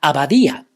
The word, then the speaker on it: abadía: For example, la abadía. Abadía is a word that has the stress on the vowel I.